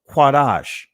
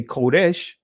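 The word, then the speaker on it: קודש: Now, when you say Kodesh, right, or Kodesh or Kadesh, that's of a Israeli pronunciation, right?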